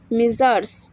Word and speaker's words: Messrs: তো MR ডট এর full form হচ্ছে MESSRS, প্রোনাউন্স মিজার্স।